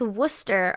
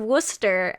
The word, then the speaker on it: Worcester: oh my god so why is it pronounced Wooster okay so Chris says it's pronounced of Wooster and Lance comes back